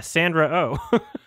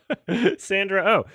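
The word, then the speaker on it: Sandra Oh: Pops in my yeah Sandra o Sandra o it's two syllables and then an o sound at the end and like I just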